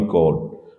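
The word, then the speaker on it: corps: Army कॉर्ड, कॉर्ड जो है यहाँ पे हम कहते हैं कि group of soldiers, group of soldiers को कॉर कहते हैं। तो यहाँ पे पी और एस साइलेंट है, तो बुक में क्रॉप्स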